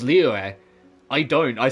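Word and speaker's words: Liyue: because there is a there is a silent letter that you have to pronounce that isn't in the writing and he pronounces it he goes Leo I don't I say leeway because it's just easier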